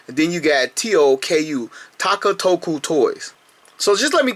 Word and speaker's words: Takatoku: But it's Takatoku Toys, T-A-K-A, sort of like Takara, and then you got T-O-K-U, Takatoku Toys.